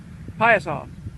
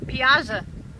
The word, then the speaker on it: Piasa: How do you pronounce that? Piasa. Okay, how do you pronounce it, Miss Chichester? Piasa.